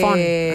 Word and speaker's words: Von: Von con B corta. Así la que Fon, Von. Claro, se pronuncia Fon, pero la verdad que yo ya me digo doctora Von nomás.